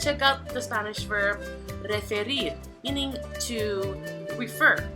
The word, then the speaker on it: referir: So let's check out the Spanish verb referir, meaning to refer. So in the final syllable, rir, spelled R-I-R, is stressed.